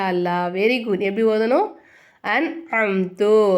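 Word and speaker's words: أنعمت: very good எப்படி ஓதணும் an Amdu இங்க நம்ம குன்னா செய்யக்கூடாது இந்த நூனே சாக்கினை நம்ம வந்து வெளிப்படுத்தி உச்சரிக்கணும் ஓகேங்களா அப்ப நம்ம எப்படி சொல்லணும் அன் அம்து அப்படின்னு சொல்லணும் இல்ஹார் சட்டத்துல என்ன பண்ணனும்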